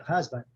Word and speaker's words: husband: Aqui você está vendo aqui o chua aqui, essa sílaba ela é quase nem husband, ela é quase nem pronunciada, né?